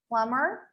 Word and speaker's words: plumber: explanations if you make a silent letter is a letter that is left unpronounced in a word it's as simple as that such as in the word plumber plumber or doubt doubt you simply don't make the sound of that letter you just simply don't